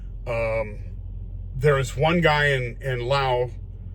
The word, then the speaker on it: Laos: There is one guy in Laos Laos to everybody else, but it's pronounced Lao.